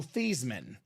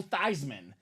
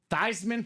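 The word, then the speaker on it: Theismann: his name is Joe theeman but Notre Dame decided let's make a campaign for the Heisman let's change the pronunciation of your name to Joe thyman thyman for the Heisman he was a finalist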